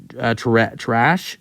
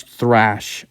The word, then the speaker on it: Thrash: really good day Jamir trash Jamir trash uh I don't think his name I don't think his last name is pronounced trash but it um or thrash um I think it's thrash um yes it's I